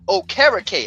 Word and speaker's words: Okereke: Okereke.